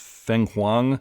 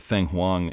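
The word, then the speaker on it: Fenghuang: Also, they have a listing for, I think it's pronounced Feng Huang, the Chinese phoenix, or maybe in the World of Dark, the only phoenix.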